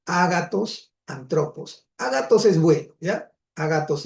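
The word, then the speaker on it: ἄνθρωπος: Esto viene a ser el artículo y esto viene a ser el sustantivo hombre y se pronuncia antropos, ¿ya?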